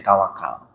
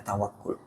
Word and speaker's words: tawakkul: Bahasa Indonesianya jadi tawakal. Ini yang benar dibacanya tawakkul.